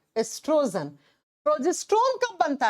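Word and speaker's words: estrogen: नाम होता है एस्ट्रोजन लिखा जाता है ओ से प्रोनाउंस के समय ओ साइलेंट हो जाता है ई से बोलते हैं इसे एस्ट्रोजन और दूसरा ओरी से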